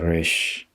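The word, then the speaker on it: Resh: 래쉬이기 때문에 R 발음이 나는데 사실은 현대 히브리어도 그렇고 그 유럽권에서 온 분들은 이 R 발음이 우리의 R 발음은 다르거든요. 우리는 그냥 르 이렇게 발음하지만 현대 히브리어에서도 그렇고 유럽에서 온 분들은 불어의 에하 발음하고 비슷하게 발음합니다.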